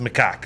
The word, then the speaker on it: macaque: I believe it is pronounced macaque.